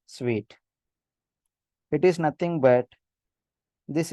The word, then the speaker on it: Suite: it should not be pronounced as soon but it should be pronounced as sweet it is nothing but